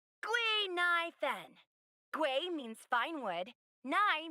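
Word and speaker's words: Guinaifen: My real name is Guinevere. But a Xianzhou friend came up with an authentic Xianzhou name based on the pronunciation. Gui Nai Fen.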